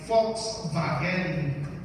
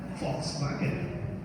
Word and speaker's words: Volkswagen: Like, for example, Germans pronounce the W as V, right? And the V they pronounce as F. That's why Volkswagen, not Volkswagen.